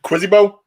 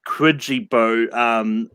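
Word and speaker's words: Quijibo: I'm not sure if spelling counts on this, but I said Quizzibo. Brooklyn. I just put Homer. Jay. I put Remo, which is Homer backwards. The answer is Quidgibo.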